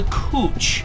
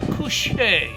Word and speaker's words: couche: I'm now going to do what's called the couche. That's from the French coucher. Spelled like couch, but it's not couch, it's couche.